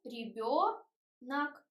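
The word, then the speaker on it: ребёнок: We can see e, not ye, то, ребенок. So we write o, but we pronounce natural sound ребенок, ак.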